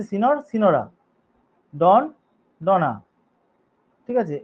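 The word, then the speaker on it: Signor: 5 নম্বর নিয়মে যাচ্ছি, এ যুক্ত করা, ম্যাসকুলাইনের সঙ্গে এ যোগ করে, যেমন সুলতান, সুলতানা, সিনর, হ্যাঁ, সিগনর, যেটা উচ্চারণ হচ্ছে সিনর, সিনোরা, ডন, ডনা, ঠিক আছে, এইভাবে এ যোগ করে অনেক সময় জেন্ডার চেঞ্জ করা হয়।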